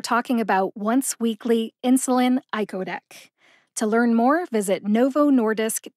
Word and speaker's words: icodec: it slowly I codc iodc I like eyeball Co like co-pilot and deck like a deck of cards the first syllable I